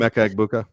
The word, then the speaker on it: Emeka Egbuka: Emeka Egbuka.